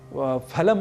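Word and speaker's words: फलम्: से शब्द है फल तो हम फल को जैसे हिंदी में फल कह दिया करते हैं उसी तरीके से यदि हम फलम अस्थ ऐसा कहें तो संस्कृत में यह अशुद्ध उच्चारण होगा तो हमें अशुद्ध उच्चारण नहीं करना है और हमें शुद्ध उच्चारण करना है फलम फले फलानी ही कहना है फलम फले फलानी ऐसा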